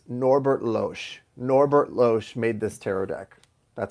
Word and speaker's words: Norbert Loesch: Norbert Loesch made this tarot deck. That's how you pronounce it.